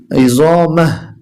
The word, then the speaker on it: عظامه: যখন এখানে থেমে যাব আমরা উচ্চারণটা হবে বন্ধুগণ ইজামাহ।